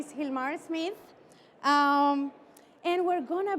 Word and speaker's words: Gilmar: So my name is Gilmar. It is spelled with a G, but it is pronounced like if it was an H.